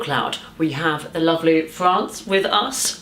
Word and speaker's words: Frans: we have a lovely France with us France France how you pronounce holes as a country like the country that would make sense and you're from Paris